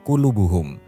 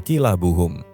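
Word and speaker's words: قلوبهم: Di bulan Ramadan saat menyalin surah Almaidah, Zaid lupa membubuhi tanda baca pada kata klubuhum. Tanpa itu, orang-orang keliru membacanya menjadi kilabuhum yang seharusnya artinya adalah hati mereka menjadi anjing mereka.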